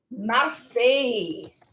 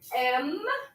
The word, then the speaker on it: Marseille: It rhymes even. Numéro 9, c'est la ville de Marseille. So M-A-R-S-E-I-L-L-E.